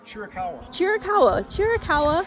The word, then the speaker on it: Chiricahua: Chiricahua National Park.